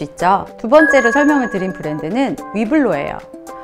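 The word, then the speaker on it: Hublot: 말씀하시자 나요 처럼 것처럼 에르메스의 h 를 키에 시 아닌 이해 후 로 발음하는 것 처럼 위블로 도 위블로 로 발음을 해야 돼요 그 이유는 에르메스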